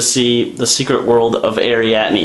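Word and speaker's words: Arrietty: no i bet you it's not it's not pronounced like that so anyways we're going to see the secret world of ariatni it's ariatney trust me i know that's what it is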